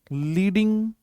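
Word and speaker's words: Leydig: इनका नाम है आपका लीडिंग। लीडिंग लीडिंग। कई बार हम इनको प्रोनाउंसिएशन करने में क्या कर देते हैं? एक गलती कर देते हैं। वो क्या कर देते हैं? लीडिंग आई एन जी लगाते हैं।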